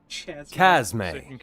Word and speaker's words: Chasme: Chasme. Chasme is how Matt Mercer pronounces it here for me.